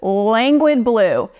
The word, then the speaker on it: Languid Blue: And I actually realized I was pronouncing this the wrong way the majority of the times I used it until somebody corrected me. So it's Languid Blue.